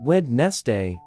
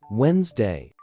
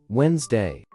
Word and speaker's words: Wednesday: let's go all right here's the secret to pronouncing Wednesday forget the D and make it simple the correct pronunciation is Wednesday say it with me Wednesday now let's break it